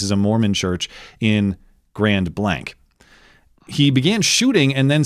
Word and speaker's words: Grand Blanc: I was informed by email today that it's Grand Blanc.